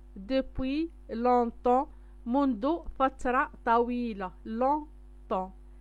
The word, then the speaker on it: longtemps: longtemps جي ما كنطقوهاش بي اس ما كنطقوهمش.